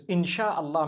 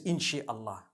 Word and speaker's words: insha Allah: inchi means to create no one says inshi Allah they say insha Allah that's what it is